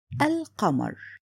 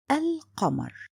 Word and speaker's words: القمر: My example here is the word al-qamar. Here, alif and lam for the definition article, it's written. On the same time, the lam is pronounced. Listen carefully, al-qamar.